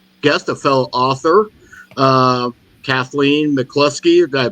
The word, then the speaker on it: Kathleen McCluskey: I'm having a guest a fellow author uh Kathleen mclusky did I pronounce that right yes you did very good